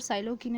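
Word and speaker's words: psilocybin: ये जो वर्ड साइलोकिन है ना, उसमें पी साइलेंट है, इसको आप एस से पढ़ना शुरू करोगे। साइलोकिन इसको आप प्रोनाउंस करोगे।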